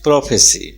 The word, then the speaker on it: prophecy: Please see the spelling of प्रोफेसाई, P-R-O-P-H-E-S-Y. This is a verb and the noun from prophesy is prophecy.